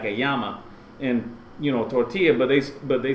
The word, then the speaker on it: tortilla: English pronunciations like like tortilla chips because the L because the Double L is is the actual letter in Spanish alphabet language it sounds like a a why like a llama would be like a